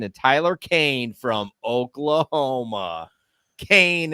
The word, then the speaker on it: Kane: Kane is how you pronounce it.